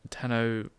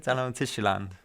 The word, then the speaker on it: Tenochtitlan: The university first opened in 1096, while the Aztec Empire is considered to have originated with the founding of the city of Tenochtitlan.